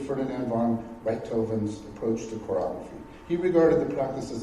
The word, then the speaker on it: chorography: I wanted to poetically render the historical practice of chorography." Am I pronouncing that right?